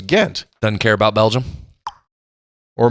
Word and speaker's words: Ghent: See, Belgium, it's Ghent.